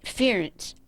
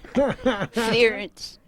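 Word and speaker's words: Pherence: Ference. P-H-E-R-E-N-C-E. The P-H is silent. Ference, and my mother was X-E-N-I-A.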